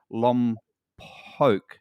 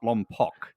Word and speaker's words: Lompoc: that why is and it's called Lum poke not Lompoc that's right is it